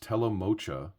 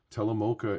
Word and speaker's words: Telemocha: as my investigation has brought up it is pronounced Tel MOA not Tel Moka Tel Moka is what I was told from the person